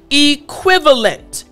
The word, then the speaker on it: equivalent: Again, equivalent. What I want to help you with is the V sound.